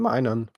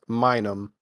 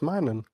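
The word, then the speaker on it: Minun: correct you um and I never realized that is his name minan I could have sworn it was minum Plusle and minum but it is mining yeah I was today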